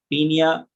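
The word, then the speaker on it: Paeonia: और ये देखिए, सबसे पहली चीज मैं आपको एक्सप्लेन करने वाले हूँ, पियोनिया जैपोनिका, या इसको हम शॉर्ट फॉर्म में बोलते हैं पीनिया, ओ साइलेंट, पीनिया जैपोनिका।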